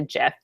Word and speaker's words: GIF: You have to learn to GIF, not GIF. That is the technical pronunciation of it.